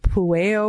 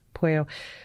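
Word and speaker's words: Pueyo: Thomas, I don't know if it's pronounced Pueo or Pueo. I'm not too sure. Yeah, Thomas Pueo is the way I've always said it.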